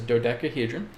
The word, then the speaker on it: dodecahedron: is okay so you basically pronounce it as dodecahedron which is spelled d-o-d-e-c-a-h-e-d-r-o-n dodecahedron okay it's a platonic solid that too